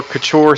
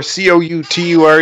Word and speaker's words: Couture: I'm underscore Couture cou ture because I know nobody likes to spell it although Randy Couture thank God has made my last name more famous so people usually know how to say it so that's I'm usually